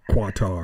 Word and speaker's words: Qatar: So I guess um quitar given him a whatever it's cutter. It's giving him that's how you pronounce it.